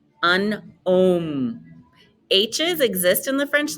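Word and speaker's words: homme: all you know an OM an OM H's exist in the French language but they're never pronounced they do not pronounce the h sound so go right to the vowel repete say an um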